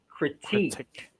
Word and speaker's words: critique: a critique yes but you say the word as critique critique stress is a second syllable not and critiques images